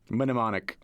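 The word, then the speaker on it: mnemonic: neonic W the another crazy thing about nimonic is that the M also used to be pronounced minimic minimo oh my goodness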